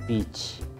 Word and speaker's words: beach: 비치가 아니라 비치. 해안가, 바닷가, 비치. 이제 발음 잘못하면 이제 욕이 돼버리죠? 비치 이러면서 이제.